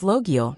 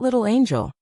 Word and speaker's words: Logiel: Sir, my name is Logiel, not Little Angel.